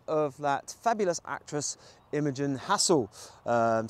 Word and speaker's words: Hassall: that fabulous actress imagin Hassel um some people say hael hassle hassle it depends how you say it but I say hassle um and and she